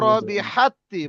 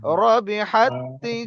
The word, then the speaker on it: ربحت: উলাইকাল্লাযীনা ইশতারাউয যালালাতা বিল হুদা ফামা রবিহাত্তি, বড় হা আছে এখানে, বড় হা উচ্চারণ করতে হবে কণ্ঠনালীর মাঝখান দিয়ে। রবিহাত্তি জারাতুহুম ওয়া মা কানু মুহতাদিন।